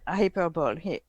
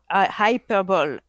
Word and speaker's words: hyperbole: Hyperbole. Hyperbole. Hyperbole. E. Oh, you pronounce the E at the end of that one. Yes, we do. But people do say hyperbole, but it is hyperbole.